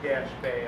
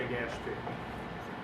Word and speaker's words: Gaspee: It may be pronounced Gaspé, I don't know, but I'm going to say Gaspee.